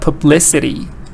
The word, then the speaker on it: publicity: on t creativity or here stress was on P public but publicity now it's on l so if you know